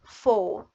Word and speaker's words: foe: Next I have o foe Here I have o and e, two vowels. So, the second one is silent. And the o has the long sound, foe.